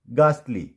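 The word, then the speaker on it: ghastly: एंड गास्टली, क्या पढ़ेंगे?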